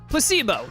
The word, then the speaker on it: placebo: to our vocabulary today repeat after me Placebo the stress is on the middle syllable placebo Splendid it's so Charming